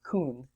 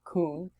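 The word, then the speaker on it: כון: We'd pronounce that kun. So kun. Treat that vav like a shurik.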